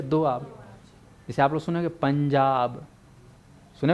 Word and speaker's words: पंजाब: जैसे आप लोग सुनेंगे पंजाब, सुने हो नहीं सुने हो? पंजाब लिखते हो पंजाब, लेकिन इसका उच्चारण करूँ ना तो पंज, है ना, धन आब, 5 नदियों का संगम है पंजाब।